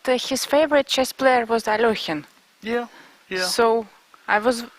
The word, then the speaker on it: Alekhine: everybody thinks it's Alekhine, Aljechin.